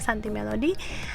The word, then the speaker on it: Suntea Melody: Instagram saya Santi Melody, tulisannya SUNTEA Melody ya, bacanya Santi Melody.